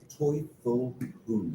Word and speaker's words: Teufel Hunden: What's the What's the right way to pronounce this? Make sure I don't mess it up. Toyful Hund. Is it Well, I've always I've always heard Tyful Hound.